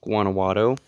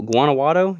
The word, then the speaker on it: Guanajuato: Next up, we have the state of Guanajuato, and then the capital is Guanajuato. Sounds like that to be how you pronounce it.